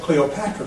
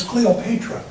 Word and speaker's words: Cleopatra: Now you might pronounce it Cleopatra, but the correct pronunciation is Cleopatra.